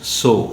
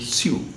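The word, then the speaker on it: sew: needle pulling thread that's so it's not su but most of us say it sue that's a wrong pronunciation but important and important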